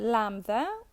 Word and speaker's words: lambda: one then we have the lambda which is like when you say lion the first at the beginning sound of the word lion then you have the